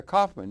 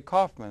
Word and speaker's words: Kaufman: my name is pronounced there two way to pronounce cman yeah Kaufman yeah there's two ways okay Kaufman or cman uhuh now which one you think it is you don't know C I always say Kaufman I've had a lot